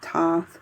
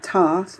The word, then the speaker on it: Thoth: of pronouncing it as thoth not toss because there's a th at the beginning so i don't understand